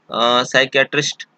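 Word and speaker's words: psychiatrist: अगला जो है, इसमें देखिए पी साइलेंट होता है, ये भी बड़ा फेमस शब्द है। इसको बोलते हैं हम लोग साइकियाट्रिस्ट।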